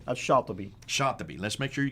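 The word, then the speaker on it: شاطبي: Now, how would you pronounce his name? Shatibi.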